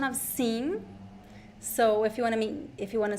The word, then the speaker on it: sim: Careful, it's not the same pronunciation of sim. So if you want to say yes, the pronunciation is sim. Sim. It is in. It is the nasal e.